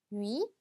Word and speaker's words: nuit: nuit, nuit. 자, 마지막 때는 발음이 되지 않지만 을 발음에서 옆에 있는 이까지 발음해 주셔야 돼요. 그래서 누에서 끝내는 게 아니라 누이까지 발음해 주시면 되겠습니다.